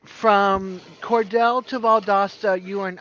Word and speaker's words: Cordele: I think it's Cordell. You guys know I'm bad with words. Cordele.